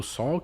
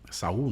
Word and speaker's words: Saul: outros dois que é o sol que é aquele que Saul né é a questão da pronúncia né Aham eh que